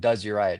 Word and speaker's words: Drzayich: spelled it's spelled like Dr zich and it's pronounced like does yourich so when you get a couple cocktails in